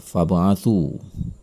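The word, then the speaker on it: فَابْعَثُوا: Lalu perhatikan kata fab'athu. Ada ba mati di tengah kata tersebut. Ini adalah qalqalah. Maka cara membacanya adalah dengan memantulkannya dengan pantulan kecil. Fab'athu.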